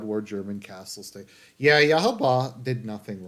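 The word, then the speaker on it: Yhwach: and we have um yahaba now so that'll be cool my understanding is that's how you pronounce his name yahaba um yahaba yahaba it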